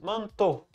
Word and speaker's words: manteau: Manteau. Esse finalzinho aí que é AUX no francês pronuncia O. Então, manteau.